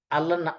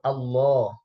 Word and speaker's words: আল্লাহ: এটাকে বলা হয়েছে যে এই যে আল্লাহ শব্দটা, এবং যখন আপনি উচ্চারণ করেন আল্লাহ, আল্লাহ, দেখবেন এটা মুখের ভিতর থেকে একবারে, মুখের মাঝখান থেকে, জিহ্বাটা যে তালুর মধ্যে লাগবে পুরা মুখের মাঝখান থেকে আসবে শব্দ। আমরা যখন উচ্চারণ করি সাধারণত ঠোঁট ইউজ করি অধিকাংশ শব্দের ক্ষেত্রে, কিন্তু আল্লাহ শব্দটা ইউজ করতে, উচ্চারণ করতে ঠোঁটের কোনো কাজ নাই।